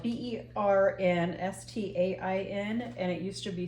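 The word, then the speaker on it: Berenstain: differently no did you know that right now it's spelled b e r n St t a i n and it used to be spelled b e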